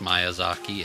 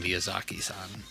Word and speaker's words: Miyazaki: even with his name, I've heard it pronounced Miyazaki and Miyazaki. And the one pronunciation of his name that I would trust is whenever you're watching like Kiki's Delivery Service and they have the pre-video with the guy from Pixar who's really close to him, and he calls him Miyazaki-san. So, okay, so Miyazaki's probably the correct pronunciation, and me flip-flopping between